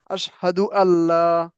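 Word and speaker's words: أشهد أن لا: কিন্তু এটা যখন একসাথে পড়বো তখন পড়বো আশহাদু আল্লাহ। চিন্তা করছেন? মানে নুনটা এক্ষেত্রে দুইটা একসাথে উচ্চারণ করার সময় নুনটা কি হবে না উচ্চারণ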